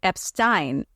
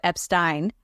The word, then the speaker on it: Epstein: number of people who have been recorded saying Epstein during the time when Brian was managing The Beatles the list of people who said Epstein include John Lennon George Martin Viv Jones worked